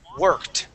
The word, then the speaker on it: worked: please want work wanted worked okay good with that t ending on worked because that ends with a K all right let's go